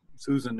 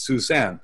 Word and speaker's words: Susan: you know the so because your name is spelled like Susan and everyone it's called anyway it's Suzanne so that's fine I